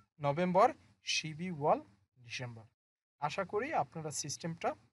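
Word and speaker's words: 십이월: তাহলে উচ্চারণটা হবে শিবি ওয়াল, শিবি ওয়াল, ডিসেম্বর মাস।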